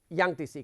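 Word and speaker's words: Yangtze: ये 2 नदियां हैं, जिसको मैं हुआंगो कह रहा हूं, यानी कि येलो रिवर, और जिसको मैं यांगतीसी कह रहा हूं, ये चाइनीज प्रोनाउंसिएशन है।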